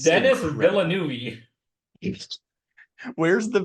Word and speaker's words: Villeneuve: Xavier Dolan, Denis Villeneuve, Denis Arcand, James Cameron.